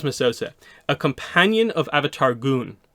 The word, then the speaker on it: Gun: a companion of Avatar goon that's a g-u-n so Avatar gun but it's pronounced goon and skilled poet and